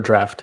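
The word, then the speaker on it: Draught: It's actually quicksol draft. It's I don't know why it's spelled that way.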